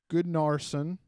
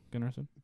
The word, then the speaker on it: Gunnarsson: was followed by Cardiff's 2 goals by Aaron Goodnarsson. Right? Gunnarsson? Yeah, Gunnarsson. Goodnarsson.